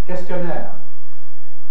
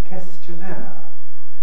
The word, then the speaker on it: questionnaire: we call it a questionnaire but this is a word borrow from french in french it's pronounced questionnaire and so it came into english with kes at the beginning questionnaire and older people a